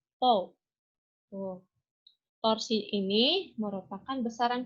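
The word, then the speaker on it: τ: Nah, lambangnya itu adalah seperti ini, atau dibacanya tau.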